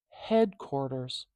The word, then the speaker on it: headquarters: Headquarters.